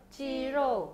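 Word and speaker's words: 鸡肉: " 지로우 " 를 어떻게 발음 하나 요 ? 지로 .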